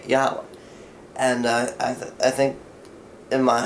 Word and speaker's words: Yahweh: Now, the name of the Lord is impronounceable, Yad-Heh-Vav-Heh, but we can say Yahweh.